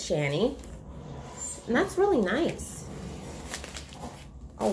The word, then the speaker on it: Shany: it i was like is it shanny is it shawnee so i did find out it's shanny and that's really nice